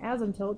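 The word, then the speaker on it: asymptote: called an ASM toote an ASM tilt this is how you pronounce it is what the graph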